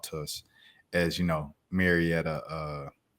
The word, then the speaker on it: Marietta: But I love for him to come on the pod and talk to us as you know, Maretta uh how do you say it? Marietta natives.